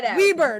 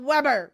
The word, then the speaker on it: Weber: That's like, and I love the Desjardins ads that are around here where it says it's pronounced Weber, not Weber.